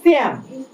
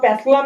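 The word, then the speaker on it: psalm: আচ্ছা, এইটা এর উচ্চারণ হচ্ছে শ্যাম, সার্টিন সর্ট অফ, এটা প্লাসলাম বা প্যাসলাম কিছু না, শ্যাম।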